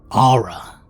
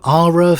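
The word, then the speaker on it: Arhra: At least that's how I pronounce it. A-R-H-R-A. Ara.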